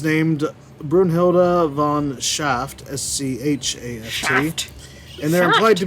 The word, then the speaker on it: Schaft: I'm sorry if I'm mispronouncing that. Django. In Wow, Django sorry. Untamed is named Brunhilde von Schaft, S-C-H-A-F-T. Shaft.